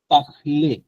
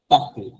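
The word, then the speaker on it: parlent: ইজেড ই জেড ভু পাখলে ইল এল পাখ এটাও কিন্তু যদিও লাস্টে ই এটি তিনটা আছে কিন্তু আপনার উচ্চারণটা হবে পাখ শুধু পাখ এটাকে নরমালি সাউন্ডটা হয়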